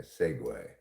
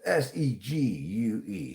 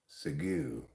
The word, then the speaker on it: segue: And then I segue. That's s e g u e segue. You might think that should be pronounced sigu.